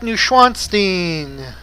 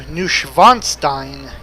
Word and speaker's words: Neuschwanstein: W in German is pronounced like a V. So, this actually should be pronounced closer to Neuschwanstein, or Neuschwanstein.